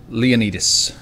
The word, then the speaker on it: Leonidas: Leonidas or Leanne Leonidas they pronounced it Leonidas in this accents they pronounce like literally everything differently than you think like there are so